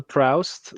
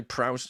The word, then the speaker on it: Proust: Like as we talked about last week, we get the impression is it like the older Proust looking back through time and there's all these